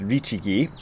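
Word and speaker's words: 律儀: In contemporary Japanese, those middle two characters are pronounced Richigi, and that's slightly different.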